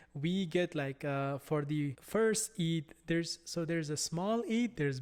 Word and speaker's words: Eid: For example, the Eid celebration. So that Eid celebration, there are two Eid celebrations, and you spell it E-I-D.